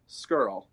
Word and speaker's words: Scurll: For those of you who don't know how to say his name, it is like girl or squirrel. Scurll.